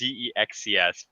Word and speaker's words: ZEXCS: Like the name is Zexcs. Please, Maybe spare me. it's Zex CS.